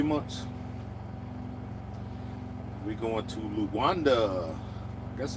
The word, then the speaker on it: Luanda: We going to Luanda.